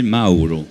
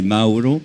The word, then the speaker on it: Mauro: Alors oui, Mauro, en vérité, il faudrait le prononcer Mauro. Mauro. Le U en italien, donc d'où mes origines. Donc italien. Se prononce OU. Donc c'est Mauro.